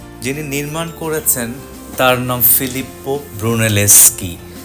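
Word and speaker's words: Filippo: যিনি নির্মাণ করেছেন তার নাম ফিলিপ্পো ব্রুনেলেস্কি। দুটো পি আছে, দুটো পি উচ্চারিত হবে, সেজন্য ফিলিপ্পো।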